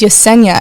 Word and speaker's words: Yezenia: And I looked at him and I was like, well, traditionally in the Spanish alphabet, Z is pronounced with an S. So my name's Yesenia.